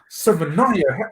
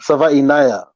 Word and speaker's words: Savainaya: Demetrius Savanaya? How do you say your last name? Savanaya. Savainaya. Oh. Savainaya.